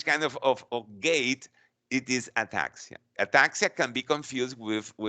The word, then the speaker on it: ataxia: Ataxia or ataxia or ataxia. Ataxia is the way that is correctly pronounced.